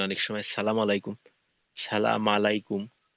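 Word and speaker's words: السلام عليكم: এই এই হলো আমাদের সালাম আস তো এখানে এই সিনটা স্পষ্ট রাখা মিমের পেশ তো দেখা যায় যে আমরা হামজা উচ্চারণ করি না অনেক সময় আসসালামু আলাইকুম।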